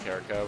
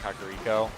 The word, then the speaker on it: Kakariko: This is nothing like the Kakariko I know, but I used to pronounce it Kariko, by the way. If you think it's pronounced Kariko, it's actually pronounced Kakariko.